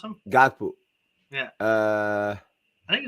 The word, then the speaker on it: Gakpo: How you pronounce him? Gakpo.